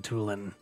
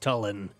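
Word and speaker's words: Tulin: a job well done toolin because my name isn't pronounced Talon wait what this moment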